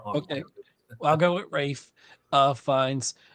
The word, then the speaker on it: Ralph: Obviously, I picked Rafe Fiennes. Am I saying it wrong? Because it's not Ralph. I've always heard it as Rafe. So I'm going to continue to say that even if I'm wrong.